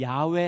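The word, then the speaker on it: 야웨: 여호와. 여호와 하나님 또는 야외 하나님이에요. 그 히브리어 발음이 야외 쪽에 더 가깝다.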